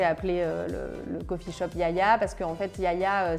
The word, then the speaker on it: Giagia: Yaya pourquoi j'ai appelé le le coffeeh shop Yaya parce que en fait Yaya ça veut dire grand-mère en grec et donc en effet ça s'écrit jaajia mais ça se prononce Yaya et les grand-mères grecques en fait moi ma